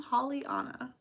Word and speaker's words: Holly Anna: you pronounce my name Holly Anna Holly like Holly trees and holly berries and Anna like Anna from Frozen oh that's true drinking